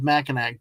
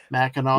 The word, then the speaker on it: Mackinac: But if Simply anyone, Steve, it's spelled as Mackinac, but see, I would pronounce it as Mackinac, but yeah, I do know that it's Mackinac.